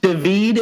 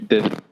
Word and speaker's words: David: My name is Cornelius, and today I'll be speaking with Hoodie and David. Am I pronouncing that right? No, it's actually David.